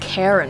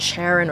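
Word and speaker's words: Charon: those prepare to pay this is pronounced karen right it's not it's not sharon or sharon these greek words man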